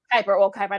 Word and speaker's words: Kuiper: Kuiper, that's how you say his name.